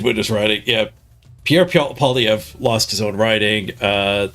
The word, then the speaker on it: Poilievre: You to pronounce it with a V or at the end? Pierre Poilievre. So V. Poilievre. That's my understanding. I might be getting it wrong.